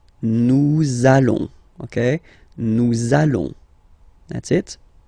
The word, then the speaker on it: allons: it does mean that you will have to pronounce this z sound, okay, listen to me, nous allons, nous allons.